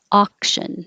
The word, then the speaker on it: auction: no extra syllable bribed auction auction the Au just sounds like ah not ow and bid you make